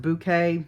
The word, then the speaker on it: bokeh: It's also pronounced bouquet, some people pronounce it that way.